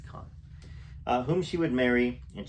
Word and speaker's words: Caan: Or Kane, I don't know how to pronounce his name. I think it's Khan.